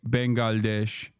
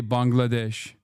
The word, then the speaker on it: Bangladesh: Okay, now Turks are saying Turks used to say Bengalesh and now they say Bangladesh.